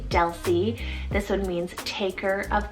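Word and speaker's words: Delsie: it means lady of strength next we have del c spelt d e l s i e del c this one means taker of god's oath asilee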